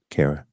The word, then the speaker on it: Cara: Cara, Rhymes with Sarah.